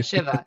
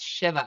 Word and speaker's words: Shiva: Shiva. See, I have to do the same thing. It's not Yeah, Shiva, it's Shiva.